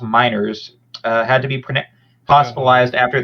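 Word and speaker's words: Meinerz: Apparently, Broncos guard Quinn, I believe his last name is pronounced Miners, had to be hospitalized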